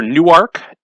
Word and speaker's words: Newark: that doesn't exist anymore, which is now either Newark, New York, if we were to use a Delaware pronunciation, or Newark, New York, if we were to use a New Jersey one.